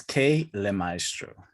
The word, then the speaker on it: K Le Maestro: Is it just K or is it K Lay? It's K Le Maestro.